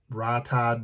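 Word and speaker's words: Rhytide: edition they have um the rye tide black i guess is how you pronounce it r-h-y-t-i-d-e it is completely sold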